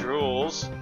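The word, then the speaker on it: Rouxls: The rules, pronounced rules, are simple.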